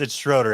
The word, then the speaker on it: Schroeder: Schroeder. I want to say it's Schroeder. We're going to find out. He's nodding yes. It's Schroeder.